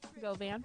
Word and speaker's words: Govan: Are we Sound like a pronouncing it right? fashion. So say your name. Govan.